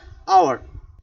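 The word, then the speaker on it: hour: অথবা আওয়ার, এখানে যদিও শব্দটা এইচ দ্বারা শুরু, বাট এইচ এর উচ্চারণটা কার মতো হয়েছে? ও এর মতো হয়েছে।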